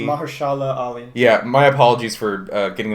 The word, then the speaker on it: Mahershala Ali: And then I don't know how to pronounce the other gentleman's name. Oh, man. It's like Maharaji Ali. Mahershala Ali.